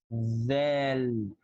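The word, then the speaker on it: ذال: Okay, the next letter is, look at my tongue, Del. Val. Yeah. Dhal. Dhal. So simply my tongue is going outside to pronounce the letter and then go inside to continue the name of the letter.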